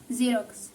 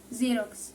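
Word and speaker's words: Xerox: اكزامبو طيب امال بقى لو جه عامه في اول الكلمه بينطق نفسه صوت الزد بالضبط طيب زي ايه مثلا وبرضو كلمه زيروكس زيروكس زيروكس تمام توفيق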